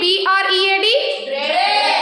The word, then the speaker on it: bread: see how to read b r e a d it's bread what it is bread there we are not pronouncing a sound a is silent next head death can